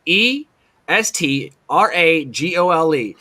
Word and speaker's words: estragole: I mean, it's estrogenol, okay, or estragol or whatever you want, however it's pronounced. It's ESTRAGOLE.